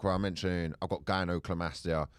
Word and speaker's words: gynecomastia: By the way, it's gynecomastia.